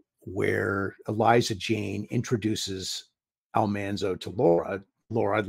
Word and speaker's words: Almanzo: time on the show his name should have been pronounced Almanzo we pronounced it Almanzo I don't know really